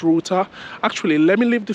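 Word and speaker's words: Ruter: Yeah, so when I came yesterday, I checked for an app called Router. So it's spelled R-U-T-E-R.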